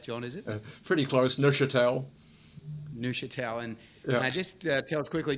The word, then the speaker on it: Neuchâtel: And I'm here joined today with John Lorraine from Core Resources, and it's Neuchâtel Partners, is how I pronounce that, John, is it? Pretty close, Neuchâtel.